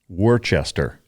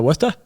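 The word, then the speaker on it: Worcester: so before we go any further all right Worchester it's not pronounced that way right oh you mean uh westa yeah yeah so uh what's the the town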